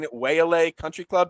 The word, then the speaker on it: Waialae: way of saying it waylay country club did i say it right i think it's yla but yeah close very close what's with all these